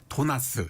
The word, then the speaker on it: 도나스: 이미 1970년대부터 핫케이크 또는 팬케이크 믹스와 함께 도나스, 이거 발음을 도나스. 제대로 해야죠. 도나스. 예. 제대로 다르게 해야 더 맛이 납니다.